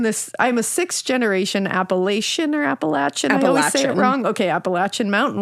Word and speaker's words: Appalachian: Zeta oh hell yeah just say it correctly folks Appalachian Appalachian it feels right it feels better finally this story is